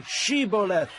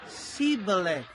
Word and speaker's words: Shibboleth: they said, All right, say Shibboleth. if he said, Sibboleth. because he could not pronounce the word correctly, they seized him and killed him at the fords of the Jordan.